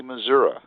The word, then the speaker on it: Missouri: because there's an i at the end and it's not an A so I agree with that but but are there people in Missouri who say Missoura yes okay that's what